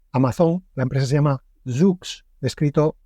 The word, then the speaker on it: Zoox: La empresa se llama Zoox, escrito Z-O-O-X. Bueno, pues esta, la que llamaremos para que sea más fácil de pronunciar, Zoox, va a empezar o ha anunciado